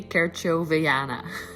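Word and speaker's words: kerchoveana: regular miranta kirchez neva i just really don't want to pronounce that name kerchieniova or something i've since figured it out it's actually kerchow veyana and it really needs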